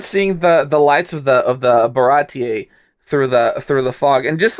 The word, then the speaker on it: Baratie: When that episode dropped, I was that day years old when I realized that it's pronounced Baratier, because the whole time I was calling it Barati.